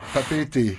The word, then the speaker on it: Papeete: de conduire dans pape est un jeu non papeete papeete attention attention la prononciation vous en veux pas alors je disais